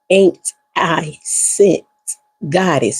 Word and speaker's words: Anicent Goddess: So, it is pronounced ain't I sent Goddess.